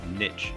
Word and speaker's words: niche: you need to do is to choose a niche, or niche as some people pronounce it.